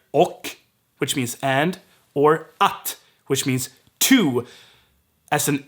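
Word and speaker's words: att: that's at in swedish so both these words can be pronounced o and they are probably gonna be pronounced oh and this confuses sweets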